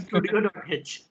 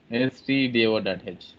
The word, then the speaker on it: stdio.h: And many people actually call that as studio.h. Yeah. Studio.h, Codio.h. It's a wrong terminology. We should not spell it like that, okay? stdio.h.